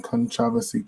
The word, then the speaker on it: Kontravasy: You can type in Kontravasy, Kontravasy. I'm gonna spell it again.